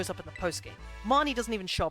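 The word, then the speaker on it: Bede: pronounce his name properly I think it's Bay day because of the way they pronounce it in the song but yeah him goes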